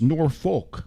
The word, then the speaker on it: Norfolk: And, how do you pronounce Norfolk?